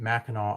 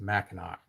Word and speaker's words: Mackinac: I didn't realize that Mackinac Island was pronounced Mackinac or Mackinac. Oh, I'm saying it right, but it's spelled that way.